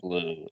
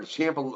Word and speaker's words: Champloo: Champloo. It's not. There's Of no course. N at the end. Oh, whatever. Champion.